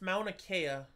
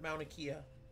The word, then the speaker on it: Mauna Kea: It's Mauna Kea, sweetheart, not Mauna Kea. Kea. Eh.